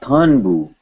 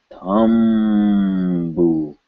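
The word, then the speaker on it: तंबू: This is not Thunbu, but Thumbu. It has to be M.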